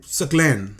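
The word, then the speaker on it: Saqlain: you can say Timothy Chalamet, you can say Saklan. It's not that hard. It's lan and suck. There's no rocket science involved in this. So why are you saying Saklan or something like that?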